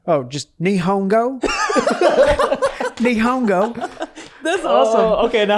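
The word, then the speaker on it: 日本語: how do you say Japanese uh it's just nongo or nongo nongo that sounds coolon meaning Japan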